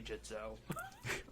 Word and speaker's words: Gitzo: I'm like, "It's apparently Jitzo."